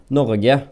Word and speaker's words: Norge: Norge, that's how you say it in my accent in Norwegian.